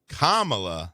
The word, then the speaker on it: Kamala: When we come back, next segment, we're going to talk about Kamala Harris. Like the comma. Correct.